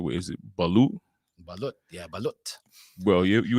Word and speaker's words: balut: I don't know if how you say it, if you pronounce it the right way. Is it balut?